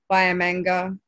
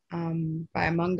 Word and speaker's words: Biamanga: Bayamanga, Bayamanga, I think is the right way to say it, and Gulaga.